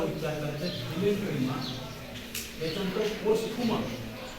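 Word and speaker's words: posthuma: त्याच्यानंतर पोस्टुमा स्पेलिंग प्रमाणे उच्चार करा.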